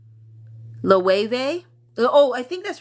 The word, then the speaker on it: Loewe: Jenny said, Loewe. Oh, I think that's right. Yeah, Loewe. I just heard that pronunciation.